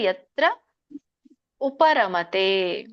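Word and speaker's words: ಯತ್ರೋಪರಮತೆ: ಉಚ್ಚಾರಣೆ ಯತ್ರೋ ಪರಮತೆ ಅಂದ್ರೆ ಇಲ್ಲಿ 2 ಪದ ಬರುತ್ತೆ. ಯತ್ರ ಉಪರಮತೆ ಅಂದ್ರೆ ಇಲ್ಲಿ ತ್ರೋ ಇದೆಯಲ್ಲ, ಅಲ್ಲಿ ಮುಂದಿನ ಪದಕ್ಕೆ ಬರುತ್ತೆ. ಸೊ ಹಿಂದಿನ ಪದಕ್ಕೆ ಹೋಗುತ್ತೆ. ಯತ್ರ ಉಪರಮತೆ, ಪರಮತೆ ಅಂತ ಕರೀತಾರೆ.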